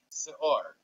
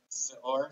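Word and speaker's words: שאור: Leaven, seor.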